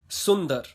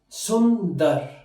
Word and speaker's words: सुंदर: I'm going to tell you how you can pronounce these hard words and don't worry, I'm going to make it easier for you. Sundar, beautiful. So let's begin with our first word, which is Sundar.